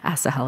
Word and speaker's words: Asahel: There are multiple ways that people pronounce his name, but Asahel is my understanding of it.